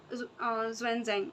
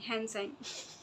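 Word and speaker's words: Xuanzang: दो है फाहियान और क्या इसको प्रोनाउंस करते हैं यार ज्वन जंग नहीं हेन संग स्पेलिंग याद कर लीजिएगा ठीक है तो फाहियान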